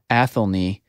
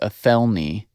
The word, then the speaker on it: Athelney: they didn't get right athelney Jones or a felony Jones depending on how you want to pronounce it I Stephen Fry I believe in his stories pronounces it athelney and then Jeremy Brett in the show says a felony mm-hmm at know if